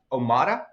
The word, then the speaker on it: Omada: and CEO or co-founder and CEO of uh omada is it pronounced that's correct yep you got it omada